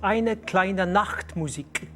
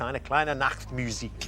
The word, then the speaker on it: eine kleine Nachtmusik: K9 is telling me in my ear that it was eine kleine Nachtmusik. Very nicely pronounced as well. Absolutely correct. Yes, eine kleine Nachtmusik.